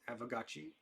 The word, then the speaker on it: Aavegotchi: Now that I know how to say it, Aavegotchi.